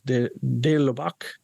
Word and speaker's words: de Lubac: So there's the next one discussed in the book is de Lubac.